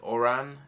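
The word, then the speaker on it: Odhrán: Your name is pronounced Oran. It's in Irish. Okay, it's pronounced Oran. Yeah, that's hard. That's hard to tell because it's written Odsran.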